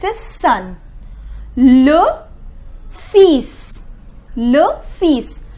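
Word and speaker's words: fils: son look peace look fees please take care that L is silent okay the next s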